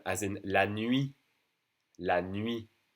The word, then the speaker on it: nuit: La nuit. N-U-I-T. La nuit. We don't say the T for night.